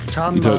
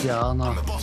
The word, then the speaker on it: Gianna: Gianna, nicht Gianna. Das I spricht man ja nicht aus. Ne? Nee, bei den Italienern wird das I nicht ausgesprochen.